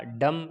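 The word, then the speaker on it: dumb: एम के बाद बी आया डम, बी साइलेंट होगा।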